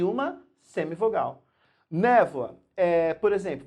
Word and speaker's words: névoa: Névoa. Por exemplo, você tem o O e o A, mas o som, na verdade, é um som de U. Porque a gente pronuncia névoa.